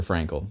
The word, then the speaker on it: Frankl: And at least by Stephen Covey, who was actually reading the audiobook, he said Viktor Frankl. That's how he said it. Frank, and it's spelled Frankl.